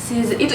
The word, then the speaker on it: Lee: Lee Min Ho kan I kan panggil, kalau Lee itu kan dibacanya I, nggak Lee.